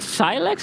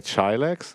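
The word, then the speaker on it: Chylex: Is it Silex? Is it Chilex? C-H-Y-L-E-X. How do you pronounce that? I would say Chilex, I guess.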